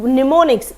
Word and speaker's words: mnemonics: techniques mnemonics this is mnemonics m is silent in it do you know